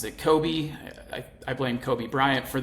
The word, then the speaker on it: Kobe: city of Kobe um everyone in the US pronounces it Kobe I blame Kobe Bryant for that but it